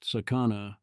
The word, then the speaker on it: Sakana: name is Sakana AI the Japanese character for fish pronounced Sakana approximately equals Sakana the Hebrew word for danger as in in Hebrew